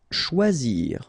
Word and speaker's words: choisir: Choisir. Okay, remember when you combine this C and H, you get the sound sh, and then OI, wa, okay, choix, and then zir, choisir.